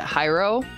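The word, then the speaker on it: Jairo: by J uh his his name is spelled j a i r o and I've heard people pronounce it hyro um but um uh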